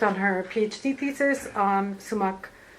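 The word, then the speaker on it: Sumak: And before she joined this center, she worked on her PhD thesis on sumac.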